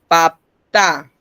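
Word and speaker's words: 밟다: Entonces, el sonido que yo voy a pronunciar de bapchin es de la P. El sonido de P sí da tensificación, ¿ven? Por eso se pronuncia ta. Pronunciemos papta.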